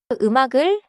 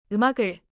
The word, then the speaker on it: 음악을: 음악을 is written with 음악 plus 을, but it is pronounced smoothly. 음악을. 받침 소리가 다음 음절로 이어져요. The 받침 sound connects into the next syllable. 흉나가시. 음악을.